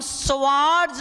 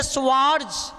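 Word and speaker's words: Swarts: श्वार्ट अभिक्रिया, श्वार्ट अभिक्रिया, और इंग्लिश में बोलते हैं श्वार्ट्ज। ये जेड या यहाँ पर एस भी लिख सकते हो आप, साइलेंट है।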